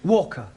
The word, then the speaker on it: Walker: Walker. What? W is pronounced W. Your employer's name is Walker.